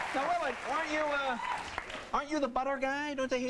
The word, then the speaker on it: Willard: Accent on the lard. Willard.